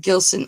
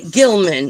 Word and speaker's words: Gilson: are saying it wrong this is a Gilman is that that's what I was calling it Gilman opal you told me